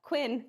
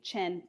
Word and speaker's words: Qin: If it's a Q, it is a Ch. So what looks like the Qin dynasty is the Qin dynasty.